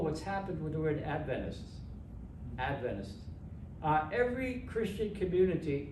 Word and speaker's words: Adventist: you so so then how do you say the word Adventist you hear if you hear it uh someone from the United States who grew up as an Adventist who says Adventist other people say Adventists and it's a giveaway